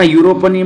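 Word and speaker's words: European: ही इज यूरोपियन, ये भले यू से चालू हो रहा है लेकिन इसकी जो ध्वनि है य आ रही है, य, यानी व्यंजन से उच्चारण हो रहा है और व्यंजन से उच्चारण होने की वजह से इसके साथ आर्टिकल ए आएगा।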